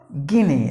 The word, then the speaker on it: Guinea: gullible gullible that's the way you have to pronounce the word and the next word is Guinea like this key name meaning letter to you